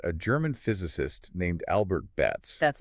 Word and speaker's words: Betz: And to understand it, we have to look at a German physicist named Albert Betz.